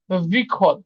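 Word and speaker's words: выход: আর বিখদ। বিখদ এখানে কি? এখানে যে ভ্যাটা এটা উজ্জ থাকে, তো এখানে উচ্চারণ হয় কেমন?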